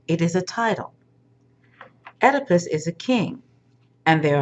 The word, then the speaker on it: Oedipus: First, listen to pronunciation number 1, my preference. Oedipus. Oedipus. This is the primary pronunciation as far as I'm concerned, but this is a secondary pronunciation that you may also use. Oedipus Rex, Latin.